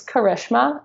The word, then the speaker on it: Karishma: and she was like, "I think you don't know how to pronounce my name. And it's Karishma. And I just wanted you